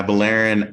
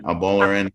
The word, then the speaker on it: Abolarin: your last name correctly yeah avalarin abolurin they're both fine um i was wondering